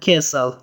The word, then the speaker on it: castle: That is an old castle. That is an old castle. Castle معنا کلا یا ماڼۍ ته هم استعمالیږي. یادونې وړ ده چې په castle کې ټي نه تلفظ کیږي. ټي سایلنټ ده.